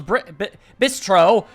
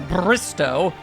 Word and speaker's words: Bistro: That much, because I always think there's an R. I think it's a Bristow, but it's not.